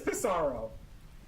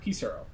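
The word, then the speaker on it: Pissarro: Lizzy got it is pisaro it is pisaro damn it you remember too easy another one it was padoo pisero I think it's pronounced piso fun fact about piso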